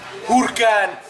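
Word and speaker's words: Huracán: Huracan. You gotta say it like that.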